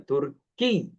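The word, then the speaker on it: تركيّ: Tapi pengucapannya harus ditekan karena ya nisbah itu ada tasdidnya. Ana Turki ya.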